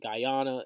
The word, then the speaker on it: Guyana: Taiwan and and um guy I think it's pronounced Guyana and I believe Venezuela or uh at each